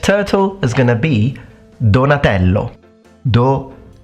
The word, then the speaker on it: Donatello: now the next turtle is going to be Donatello donello Donatello so let's check out his full name Donatello